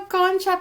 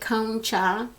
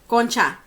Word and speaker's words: concha: people were calling it kongcha it's actually pronounced con cha like a cone that you would lick ice cream off and then cha koncha it's a type of